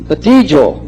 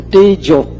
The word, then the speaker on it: Tejo: And about the Tejo, no, so in Pali, now, E, you pronounce A, Te, so Tejo. O is all. We usually pronounce all, Tejo.